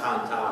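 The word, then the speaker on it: Cần Thơ: But we got to his hometown of Can Tho. I'll just call it that. They call it Can Ta, that's how they would pronounce it.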